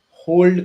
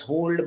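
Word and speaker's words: HODL: how it's spelled u it might be pronounced as hold but it is written as h o dl what does hold means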